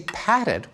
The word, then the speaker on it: patted: And when we say patted, we stick in a vowel, patted, showing that the same